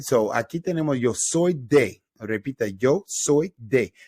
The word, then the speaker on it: soy: All right, so aquí tenemos yo soy de. Repita, yo soy de. That soy is pronounced exactly like the stuff that you put on an egg roll or fried rice.